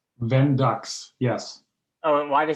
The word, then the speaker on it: Vendux: And your company name, to pronounce it right, is it Vendux? Vendux, yes.